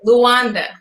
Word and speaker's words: Luanda: And am I pronouncing that correctly? Luanda, right?